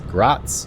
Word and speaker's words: Graz: out the pronunciation of GRA it's not gr it's Gratz I believe right so you say it more like a TS type of thing but here is